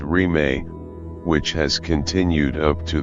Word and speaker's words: Rime: Thus was born a movement known as Rime, without boundaries, pronounced Rime, which has continued up to the present day.